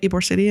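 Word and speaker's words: Ybor City: So, before Tampa and I don't know how to say this, the Eore City, is that how you say it? Eore City in Tampa.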